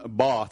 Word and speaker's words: Bath: Martin Shervington, all the way from Bath.